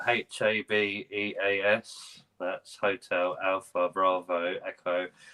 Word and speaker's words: Habeas: It's spelled Habeas.